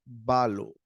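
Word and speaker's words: βάλλω: Tenemos acento en la primera vocal que sería balo.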